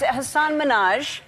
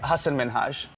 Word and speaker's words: Hasan Minhaj: And it's Hasan Minhaj. No. Yes. No. Really? Well, my name is Hasan Minhaj.